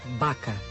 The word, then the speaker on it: vaca: Por exemplo, escreve-se V, mas pronuncia-se B. Por exemplo, palavras como vaca, Pontevedra. Vaca. Português e galego, escrita, vaca. Galego, pronúncia, baca.